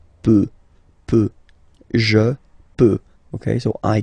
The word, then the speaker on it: peut: Je peux, tu peux, Then il, elle, peut. So you will put T at the end, you don't pronounce it.